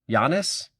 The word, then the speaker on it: Giannis: So, my spelling would be Y O N I SS. Giannis.